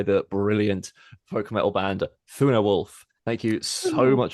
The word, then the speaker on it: Thunarwulf: Is it pronounced Thunarwulf?